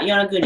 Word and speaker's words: Yonaguni: Yeah, Yonaguni. Okay. Oh, right. I just didn't know if I was pronouncing it wrong.